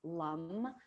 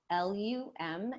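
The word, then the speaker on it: Lam: this particular chakra is lum l-u-m is how it's pronounced but you might see it also spelled l-a-m but it's pronounced lum so we using that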